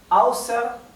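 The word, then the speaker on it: außer: del otro lado bien auer auer significa fuera de bien auer la que es esta letra que se parece a la letra Beta del griego aer se pronuncia como una doble s del alemán es una es suave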